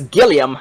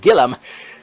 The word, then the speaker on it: Gilliam: And that's Gilliam and not Gillen. So I have been pronouncing his last name wrong incorrectly all season long.